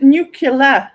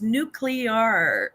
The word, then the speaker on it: nuclear: going back to the n n is it nucular that you don't like yes nucular nucular I and I'm like it's not nuclear it's nuclear nuclear nuclear nuclear do you know what I've